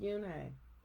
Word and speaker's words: Yoon: joey she nodded slowly yes it's pronounced yune and it means grace mr kim added yoon